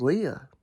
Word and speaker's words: Leia: So, Princess Leia's name is spelled L E I A. Right. It's Leia, right? But this guy says Leah. Princess Leah.